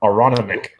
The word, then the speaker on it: Aronimink: Well, Jesse, apparently that's how we pronounced that golf course that we couldn't figure out 2 weeks ago. Aronimink.